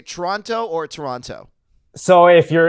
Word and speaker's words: Toronto: Toronto Toronto that says if you want to sound like a local the t is almost never pronounced I think Toronto is